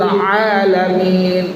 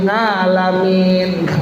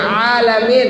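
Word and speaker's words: العالمين: Alhamdulillahi rabbil alamin. Jangan alhamdulillahi rabbil ngalamin. Ngalamin ya Bu ya. Bacanya alamin, ain ya Bu ya.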